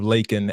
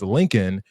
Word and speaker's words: Laken: overall racist fearmongering but Biden's pronunciation of lakan as Lincoln really pissed Marge off